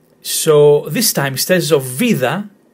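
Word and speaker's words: βίδα: So we have vida, vida. Pronunciation again in the first syllable, vida. Again, if the tone was in the second syllable, it will be vida. But this one is on the first syllable, so it's vida.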